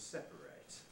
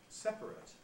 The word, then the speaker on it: separate: loss of a syllable so that separate is usually in fact set as two syllables but the verb to separate has to be three just the same thing